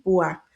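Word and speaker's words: Púa: se llama Cifra y Pua. ¿Por qué lo pronuncio así? Porque eh tienen acento en la A, en la última A.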